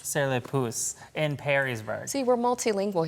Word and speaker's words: Sur Le Pouce: And that's just what you get when you visit, I want to make sure I'm pronouncing this correctly, Sur Le Pouce? Sur Le Pouce. Sur Le Pouce in Perrysburg.